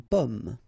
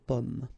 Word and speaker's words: pomme: Okay, so you can see that I pronounce them a little bit, well, a little bit differently, but then we'll be careful that in many, many cases people will pronounce them the same way, okay, because in that case normally it should be a bit lower, pomme, and then here more open, so pomme, okay.